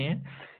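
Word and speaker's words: 해: यानी ये H plus ए ई, ये मिलकर प्रोनाउंसिएट होता है, जिसका मतलब होता है सूरज।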